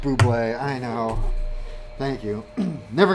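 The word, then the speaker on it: Bubly: brought to you by bubbly i get paid for that it is pronounced buble i know thank you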